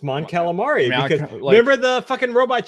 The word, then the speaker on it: Mon Calamari: No, I think it's pronounced Mon Calamari because remember the fucking robot chicken where Leia's like, yeah, but that's robot chicken.